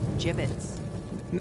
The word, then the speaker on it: gibbets: It's pronounced gibbets.